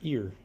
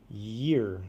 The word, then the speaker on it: year: That almost sounded like ear. Year.